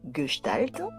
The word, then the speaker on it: Gestalt: Alors pourtant ça s'écrit G e s t a l t. Mais ça se lit Galt.